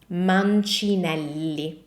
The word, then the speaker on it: Manelli: So this is correctly pronounced as man. Manelli.